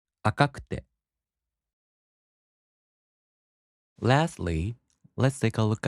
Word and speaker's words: 赤くて: For example, 赤い turns into 赤くて, so the accent falls on か. 赤くて.